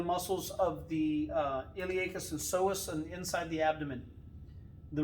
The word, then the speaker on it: psoas: side is called the psoas major it's p-s-o-a-s but the p is silent as in the psychiatrist so that is the